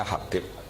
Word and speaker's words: Habib: Itu di harokatnya kitab itu ada yang nulis Hubab. Yang benar, oh enggak, yang benar itu bacanya Habib. Habib itu As-Sulami itu ikut marga Robi'ah.